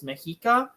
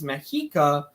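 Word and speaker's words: Mexica: word Aztec uh so those people didn't call themselves azex they called themselves mahika and um the reason Scholars call them Aztec is because the Modern Nation that's there today is called Mexico which is spelled with or Meiko which is spelled with an X or yeah with an X which is exactly how the mahika spelled their name and would be too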